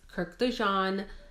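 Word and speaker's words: Kurkdjian: This is Maison Francis Kirk de Jean. I believe the D is silent.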